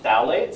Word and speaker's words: phthalate: So they can be phthalates, so spelled with P. I know it's confusing. P, phthalate. It's like P, pterodactyl. It's like, really?